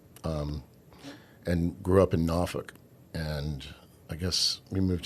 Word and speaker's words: Norfolk: came along late um and grew up in NOFK and I guess we moved to Norfolk and you almost said it. NOFFK is how you pronounce it.